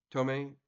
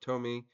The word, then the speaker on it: Tomie: think they pronounced it Tomie. So I mean, I don't think the English pronunciation is really kind of rock solid on that. I think they keep changing their mind.